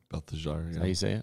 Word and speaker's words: Belteshazzar: Belteshazzar, yeah.